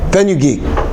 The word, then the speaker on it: fenugreek: How do you pronounce that? Fenugreek.